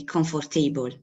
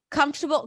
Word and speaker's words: comfortable: Yeah, it's like a comfortable a comfortable. I don't know if it's the right pronunciation in English where So comfortable. Comfortable has the primary on the first syllable.